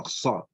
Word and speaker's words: خ: Kha, kha, kha. As if you want to produce some phlegm. Kha, kha, kha, kha. Quite a difficult one. So not ha, not our ka.